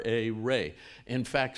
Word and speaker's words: Ra: Rays of the great ray. It wasn't pronounced Ra. E Ancient Egyptians pronounced R A ray. In fact, some archaeologists will intentionally write the name R E so we say ray instead of Ra, but it doesn't matter.